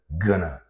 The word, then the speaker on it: gonna: world famous reduction and this reduction is pronounced as GNA keep in mind not G right well sometimes you can